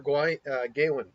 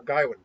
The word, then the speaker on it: Gawain: the Green Knight and Sir Gawain or Garwin, depending on the pronunciation.